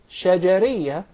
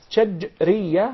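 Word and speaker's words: شجرية: It's commonly mispronounced. Some of even the Arab would say shajariyah, and there is a big difference between both of them. When there is a sukoon on the letter jim, that's shajriyah, means from the middle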